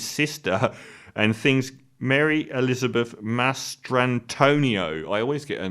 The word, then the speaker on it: Mastrantonio: to Manny, his best friend, to Mary Elizabeth Mastriano. Is that her name? I always say her name wrong. Who plays his sister and things. Mary Elizabeth Mastrantonio.